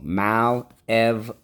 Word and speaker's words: malevolent: Underline the O. The O can say O at the end of a syllable. That is rule 4.